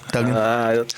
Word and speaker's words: Duggan: Coach Duggan, is it pronounced Duggan or Dugan? Duggan.